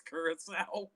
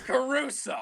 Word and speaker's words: Caruso: more words i'm sorry did you just say alex curacao yes i did because and then alex caruso yes i know i